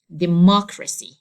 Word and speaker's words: democracy: So I have to say it like democracy.